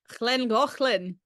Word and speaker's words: Llangollen: how's your Welsh pronunciation? Can you say Llangollen? Llangollen.